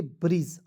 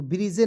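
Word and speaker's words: bridge: बी आर आई डी जी ई, क्या पढ़ेंगे, ब्रिज, अंतिम में ई है तो ब्रिजे नहीं पढ़िएगा, ब्रिज पढ़ेंगे। ठीक है, आइए दोस्तों, अब देखिए यहाँ पे बिल्कुल ध्यान से जी कब साइलेंट रहता है।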